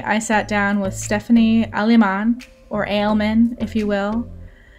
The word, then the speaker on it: Aleman: Now, do you pronounce it Aleman or Aleman? It's Aleman.